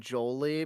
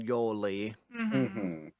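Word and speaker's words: Yolei: __ ] up thing I keep thinking they're saying Jolie but they're saying Yoli how you even spell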